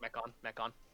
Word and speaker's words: Mechon: I'm going to pretend I pronounced that correctly. That's correct, Mechon.